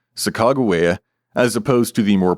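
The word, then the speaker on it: Sacagawea: consistent in indicating that the third syllable is always pronounced with a hard G. This is one of several reasons for the current preference among nearly all historian scholars for the spelling sakagua as opposed to the more popularized sakawia.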